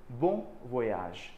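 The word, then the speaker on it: bon voyage: सो the word is बोन वोयाज।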